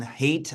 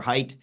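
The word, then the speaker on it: Haidt: I am actually hopeful Jonathan hate I think it's pronounced or height uh who's not a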